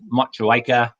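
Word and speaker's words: Motueka: then uh the new zealand hop variety is much awaker probably pronounced that wrong again no you've got that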